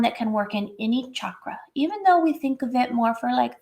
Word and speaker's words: chakra: or crown chakra you can work in any chakra notice I had to retrain myself I used to say chakra like a lot of people oh this yoga